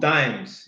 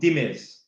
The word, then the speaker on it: Dimes: So, I thought the brand was called Dimes. It's called Dimiz. That's how the Kurdish man pronounce it.